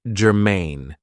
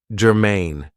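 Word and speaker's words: germane: So, the first adjective I have for you is gerine. Now, this is two syllables and the stress is on the second syllable, gerine.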